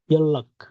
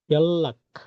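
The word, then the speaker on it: 연락: Double ল এর মতো উচ্চারণ হবে, ওকে? নিয়নের পরে রিয়ল আসছে, তাহলে ডাবল রিয়ল, মানে লয় লয় সংযুক্ত। তাহলে ইয়ন, এটার উচ্চারণ ইয়ন, রাখ না, এটার উচ্চারণ হয়ে যাবে ইয়াল্লাক, ইয়াল্লাক, ইয়াল্লাক মানে যোগাযোগ করা, ইয়াল্লাক, ইয়াল্লাক।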